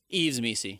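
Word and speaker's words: Yves Missi: Yves Messi.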